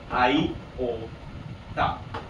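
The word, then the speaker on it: iota: चीज को आई ओटा अब प्रोनाउंस कैसे करें आई ओटा इस टाइप से है ना आटा और इसकी वैल्यू क्या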